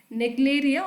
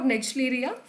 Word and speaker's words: Naegleria: Okay, the name of that brain-eating amoeba called as Naegleria or Naegleria fowleri. You can pronunciate in both the ways.